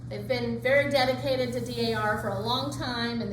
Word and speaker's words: D.A.R.: Something very important, always pronounce each letter of D.A.R. Don't call it D.A.R. Okay? And then it's okay if you called it D.A.R. in the past, but now you know, D.A.R. It's always D.A.R.